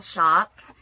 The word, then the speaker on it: Shoppe: But his website is called the Skull Shop, and shop is spelled S-H-O-P-P-E.